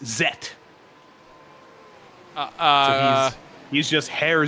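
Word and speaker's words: Zett: Germany cuz that makes our debate of of Z versus Zed very easy it's neither of those in German it's zet uh uh he's just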